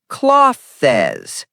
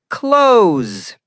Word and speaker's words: clothes: Word clothes wrong is cloth says correct is clothes. Example Jack I need to buy new clothes. That th sound doesn't exist.